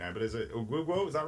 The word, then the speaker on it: Oguguo: Yeah, I was missing a syllable in Oguguo. We'll say there's an extra oo at the end.